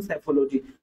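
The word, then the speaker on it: psephology: जाते हैं हम सेफोलॉजी देखिए पी साइलेंट रहता है यहां से पढ़ते हैं हम सेफोलॉजी और इसे ही हम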